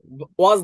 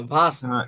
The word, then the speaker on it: was: ওয়াজ না, ভাস। Ich ভাস। bin Student. দেখেন আমি বলি, ডাব্লিউটা যদি ফার্স্ট পজিশনে থাকে তাহলে ভির মতো উচ্চারণ হয়, ভি। ঠিক আছে, ভি। ইংরেজি ভি এর মতো উচ্চারণ হয়, তাহলে দেখেন ভাস। ঠিক আছে, এবার বলি।